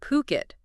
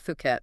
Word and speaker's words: Phuket: It's puket spelled p h u k e t pronounced puket. Definitely not fuket.